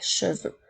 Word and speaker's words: cheveux: Le son E s'écrit de la même façon que s'il y en a seulement un, mais lorsqu'il y en a plusieurs et que c'est au pluriel, la lettre X est muette.